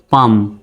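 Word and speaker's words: palm: বানানটি পি এল এম এল এম পরপর আছে সুতরাং এল এর উচ্চারণ হবে না তাহলে কেমন উচ্চারণ হবে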